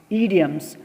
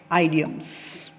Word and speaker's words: idioms: that is idioms students we pronounce it as idioms not ideas okay so what are